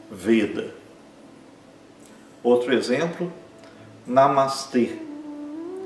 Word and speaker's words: Namastê: Ele é um E fechado, porque sempre o E em sânscrito é fechado. Então é Namastê e esse E é longo. Os 2 A são curtos. Namastê.